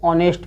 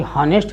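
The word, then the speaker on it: honest: H silent होगा। इसमें एच ओ से पहले आया है एच। ओ से पहले आया एच क्या होता है? साइलेंट हो गया। तो इसको क्या पढ़ेंगे? ऑनेस्ट पढ़ेंगे। ऑनेस्ट और ये हनेस्ट नहीं पढ़ेंगे। हनेस्ट नहीं बोलना है इसको। ऑनेस्ट बोलना है।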